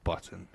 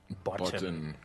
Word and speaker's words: Botton: It's a unique surname, so I guess you can pronounce it however you want, but my family pronounces it Botton. Botton.